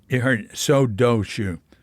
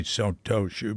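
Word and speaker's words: 曹洞宗: Now, you heard Sodoshu. A lot of Japanese say Sodoshu. They don't say Sotoshu because the kanji, it's usually pronounced do.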